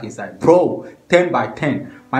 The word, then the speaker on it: Turn by Turn: People, they pronounce them ton by ton because of the tonation we use for the track inside. Bro, 10 by 10.